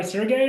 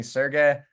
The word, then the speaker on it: Sergey: Do you go by Sergey or do you go by Serge? What do you Oh, prefer? actually, great pronunciation. It's both. It's like 50-50. My friend, in Boston, everyone calls me Sergey, and Miami, Austin, everyone calls me Serge. So whatever is easier for you.